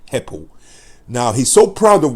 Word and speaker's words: Hepple: So his reasoning, he says, his name, people, everybody, his name, okay, is Jake Heppel. And he's from Colne in Lancashire. His name is spelled Hepple. Jake Heppel.